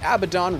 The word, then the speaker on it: Abaddon: For Act 5, the first on the list is the Abaddon Red Portal located in the Frigid Highlands.